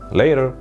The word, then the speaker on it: later: یا مثلا حتی خلاصه تر see you later رو میگن later. later. بچه اینجا later نباید بگید، اینجا تی صدای دی میده.